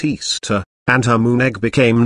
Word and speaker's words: Ishtar: equinox semiramis became known as ishtar which is pronounced easter and her moon egg became known as ishtar